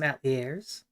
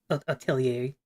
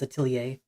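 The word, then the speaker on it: Atelier: Ailier is I think is how you actually say it. I like I said at because I didn't know how to say it the first time I saw the word. That's how I thought it was pronounced. But I'm pretty sure it's a tillier.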